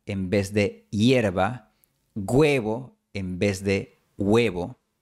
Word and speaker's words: huevo: Por eso, la pronunciación que recomiendo para personas aprendiendo español es hielo, hierba, huevo, hueso. A veces vas a escuchar hielo, hierba, huevo, hueso, pero no te recomiendo imitar esto.